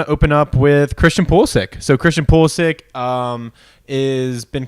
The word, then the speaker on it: Pulisic: Wait, is that actually how I pronounce it? Like you pull the sack? Okay. Christian Pulisic is an up-and-coming player from England.